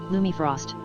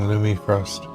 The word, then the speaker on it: Lumifrost: Thank you for bringing it to me, Lumi Frost. You are a night elf who is generous with her time. Be careful. Text-to-speech has no idea how to say my name. Saying Lumi Frost, but it's Lumifrost.